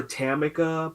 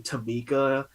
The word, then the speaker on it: Tamika: They call her Tamika, but her name was actually Tamika, and she really Mm.